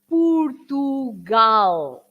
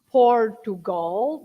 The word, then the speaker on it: Portugal: sound so pu and also when you say pugal yeah not Portugal but pugal that's the way you pronounce the word in Portuguese Portugal and P